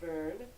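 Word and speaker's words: Byrne: So I'm not really sure if I'm pronouncing that right, but, I'm pretty sure it's pronounced Burn.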